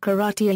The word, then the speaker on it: 空手: In this era of escalating Japanese militarism, the name was changed from Ipermel to Ipermel Euro, both of which are pronounced karate Euro to indicate that the Japanese wished to develop the combat form in Japanese style.